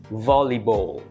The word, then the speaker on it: volleyball: ฝรั่ง EP 34 วอลเลย์บอล แบบ UK เปลี่ยน ว แหวน เป็น ฟัน สั่น คอ Vall Bow เอา ปลาย ลิ้น แตะ เพดาน B เน้น พยางค์ แรก Volleyball แบบ US เปลี่ยน B เป็น ball volleyball รถ เข็น โชเล่ เถอะ เถอะ